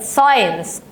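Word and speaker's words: science: حرفين اذا حرفين او اكتر ننطقها اي ولا ننطقها زي اسمها اي يبقى بقت ساينس اينس فلو انت بتنسى هي ساينس كانت مكتوبه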